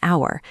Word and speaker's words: hour: Because of the silent letter in hour, the first blank is an.